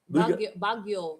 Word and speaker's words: Baguio: What the hell do you pronounce that? Baguio.